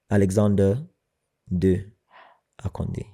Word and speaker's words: Alexander II Akandi: My name is actually supposed to be pronounced in French. Alexander de Akandi. Okay. And de in French means 2, but it also means something else. It sounds like of.